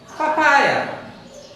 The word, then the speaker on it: papaya: এখানে PA, মাঝে যে PA আছে এটার উপর একটু চাপ দিতে হয়, একটু জোর দিয়ে উচ্চারণ করতে হয়, তাই না? papaya, papaya.